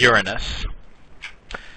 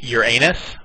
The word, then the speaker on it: Uranus: next one is Uranus there are a few ways to pronounce this does everybody know why this is uh a strange word this is Uranus some people say Uranus or your uh what else what's the other one Uranus it's Uranus very good